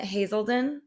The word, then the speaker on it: Hazelden: And you said something about your time at Hazelden.